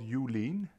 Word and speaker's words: Ulean: If you want a free plugin, the best one is called Ulean.